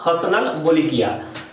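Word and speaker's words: Hassanal Bolkiah: ठीक है, प्रोनाउंसिएशन आपको समझना होगा, हसनल बोलिकिया।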